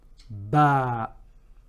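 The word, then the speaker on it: ب: and most important letter ba okay ba so how we are drawing it we're just going to think about like a boat and there's a DOT beneath it and this is the equivalent of the letter B it's it's pronounced the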